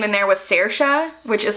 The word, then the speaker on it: Saoirse: But you could spell it Sersha, and it just means, it means freedom as well.